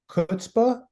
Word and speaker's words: chutzpah: and I pronounce it I've heard it pronounced as if the the C isn't there it just starts with the H kind of like a